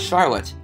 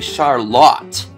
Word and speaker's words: Charlotte: to the west to what is not pronounced as Charlotte, but apparently Charlotte.